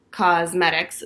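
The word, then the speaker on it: Causemetics: Okay, so this is by Thrive Cosmetics, and Cos is spelled C-A-U-S-E. Cosmetics.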